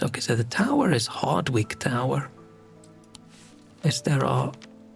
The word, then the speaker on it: Hardwick: Okay, so the tower is Hardwick Tower. Is there a I don't know if you pronounce the W. You don't pronounce a W and it sounds just